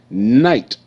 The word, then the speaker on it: night: bulb shining very bright night n i night night night GH is silent okay you see like